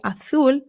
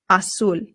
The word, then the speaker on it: azul: So you can say azul or azul. Both are totally fine, but make sure that your U is being pronounced U. Always U.